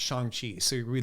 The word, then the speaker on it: Shang-Chi: Well, it's like it's written Shang-Chi, but when you see the movie, it's actually pronounced Shang-Chi.